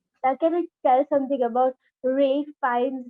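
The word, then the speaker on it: Ralph Fiennes: can tell something about ray fines that's how he's pronounced in uk yeah yeah real this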